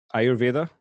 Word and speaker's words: Ayurveda: you say it all the time avada um ayurveda yeah that's another thing that's a mild thing